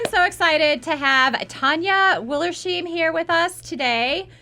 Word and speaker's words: Tanja: good morning thank you for having me I'm Tanya One Last Time correct pronunciation I'm from Germany so some people struggle